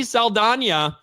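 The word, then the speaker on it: Saldaña: that was celebrating diversity Zoe Salan which we recently found out we're supposed to say her name like that I'm gonna say Zoe salana anyway becomes the first American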